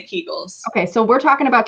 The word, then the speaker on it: Kegel: go with what you say okay i say kegels okay so we're talking about kegels but we're talking about these as related to